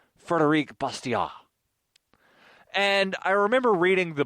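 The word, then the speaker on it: Frédéric Bastiat: Law by a Frenchman who most Americans call Frederick Bastiat, although the correct pronunciation would probably be Frederic Bastiat.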